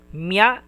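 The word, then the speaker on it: みゃ: Those are the another mia. This is mi and ya. Small ya. Mia.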